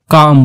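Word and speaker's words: calm: को इंग्लिश में हम काम बोलते हैं काम इस अशांत वह काम के अंदर जो ऑयल है यह साइलेंट होता है इसलिए हम इसको काम पढेंगे चुपचाप को इंग्लिश में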